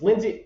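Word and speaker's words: Lynsi: lineage is drying up Lindsay is it Lindsay Lindsay it's Lindsay okay so get this that's a weird spelling of Lindsay it's spelled l y NS I that is NS this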